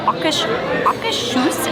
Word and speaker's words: Akershus: We've asked 2 Norwegian people, and that is how they both pronounced it. Akershus. It's almost like the R is silent. It kind of just rolls right in.